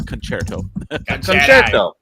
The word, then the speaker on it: Concerto: good things about it and thank you for pronouncing it correctly not con it's concerto yeah but it's Woody Woodpecker is a is